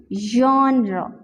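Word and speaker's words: genre: सो I will pronounce it once more, जॉनरा, जॉनरा।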